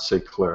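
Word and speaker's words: S'éclairer: l AI r r there's an extra eer at say Clair those French people they're always adding extra syllables on the things s so they just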